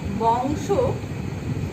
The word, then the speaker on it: বংশ: আদ্য অয়ের আগে যদি অনুস্বার বা বিসর্গ যে কোনো একটি উপস্থিত থাকে তাহলে সেই অন্ত অয়ের উচ্চারণ উ এর মতো হবে। যেমন বংশ, এই শব্দটির উচ্চারণ হয়ে যাবে বংশ, উবত উচ্চারিত হবে।